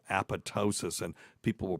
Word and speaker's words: apoptosis: of methadone wow it causes a thing called apotosis and people will pronounce it apoptosis that's incorrect it's incorrect according to you there's